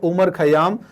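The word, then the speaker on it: Omar Khayyam: का क्रेडिट जाता है उमर खयाम। तो उमर कह दें, या इनकी स्पेलिंग में OMAR भी आ जाता है, उमर खयाम।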